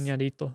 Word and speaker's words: Iñárritu: Iñárritu.